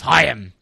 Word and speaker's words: Chaim: His name is Chaim.